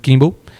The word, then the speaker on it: cumbe: lugares distantes então eh a palavra a pronúncia seria mais ou menos Kimble e significa pequeno povoado